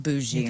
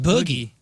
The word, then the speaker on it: bougie: It just looks like I thought it was boogie. That's dumb. It's from bourgeois.